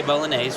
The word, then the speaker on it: bolognese: We say bolognese with a long a for the e.